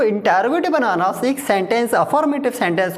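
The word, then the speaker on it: interrogative: हां हो सकता है कई बार हमारे मुंह से निकल जाता है इंट gut never read it इंट गट इट is written इंटेरोगेटिव क्योंकि स्पेलिंग देख लीजिए आई एन टी ई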